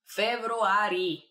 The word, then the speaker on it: февруари: През февруари. It's a very similar to February. Февруари. Just a little bit of a trick over there in pronunciation, but that means in February.